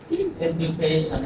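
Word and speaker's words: education: এডুকেশন এই যে ডি ইউ আছে, জ উচ্চারণ হয়েছে এডুকেশন।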